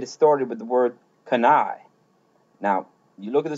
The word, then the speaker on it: canaille: going to get it started with the word kana. Now you look at the spelling of that and Lord knows I struggle with the spelling of this one all the time but canai.